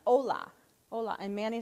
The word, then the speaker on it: hola: It looks like hola, though, doesn't it? Yep. It's, yeah, the H is silent. Hola.